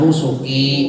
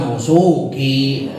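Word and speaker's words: نُسُكِي: Jadi inna sholati wa nusuki, bukan wa nusuki.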